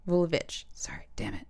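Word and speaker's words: Vulović: life forever 22-year-old Vesna volvic vulich sorry damn it it's spelled with a c so I want to say Vic but it's vit it's okay we're here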